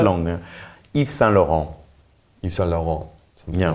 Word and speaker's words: Yves Saint Laurent: Yves Saint Laurent.